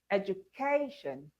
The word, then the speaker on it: education: Education. Which part of that word is stressed? K. Education. And the final example, conclusion.